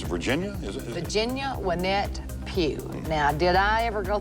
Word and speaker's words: Pugh: Virginia Wynette Pugh. Now, did I ever go through harassment in school with Pew?